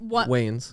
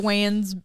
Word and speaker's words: Wayans: Yeah, that Waynes. Marlon. Oh, sorry. Yeah. The Wayans brothers, one of the sons, like lived there and blah, blah, blah.